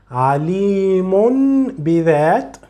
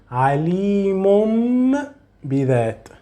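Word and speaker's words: عَلِيمٌ بِذَاتِ: So you will not say alimun bidat. You will say alimum bidat.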